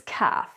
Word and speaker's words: calf: We don't actually pronounce the L so it's not calf it's calf it's not half it's